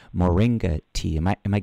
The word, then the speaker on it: moringa: was a tea that I hope I can pronounce this correctly Moringa tea am I am I getting that right